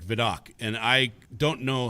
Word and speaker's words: Vidocq: Yeah, and it's obviously very French, and I was like, I just kept saying Vidocq, and that's how they kept saying it.